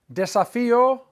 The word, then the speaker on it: desafío: Desafío, accent on the I.